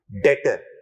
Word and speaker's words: debtor: अल्फाज डेटर। और फिर बाद में हमने जोड़ा कौन सा? बी, जिसको कह दिया कि ये क्या है? बोलिए, साइलेंट है।